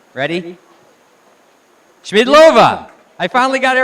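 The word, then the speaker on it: Schmiedlová: Smidova. Oh, wait. I told her when I give her the look, she has to say her name. Ready? Schmidlova.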